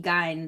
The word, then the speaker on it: Gein: I mean Milwaukee is the home of Jeffrey Dahmer and then Plainfield, Ed Gein or Geen, however you choose to pronounce it. Supposedly it's supposed to be Gein though.